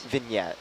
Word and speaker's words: vignette: say it vegan act vignette vignette to silent G one time I'm